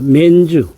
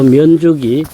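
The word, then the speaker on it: 綿竹: 면주, 우리식 발음으로는 면죽입니다. 사천성의 성도가 청두죠. 청두에서 북쪽으로 차로 1시간쯤 가면 다다를 수 있는 도시입니다. 2008년 사천 대지진이 일어났을 적에 요 면죽이 지진의 한가운데쯤에 있었습니다.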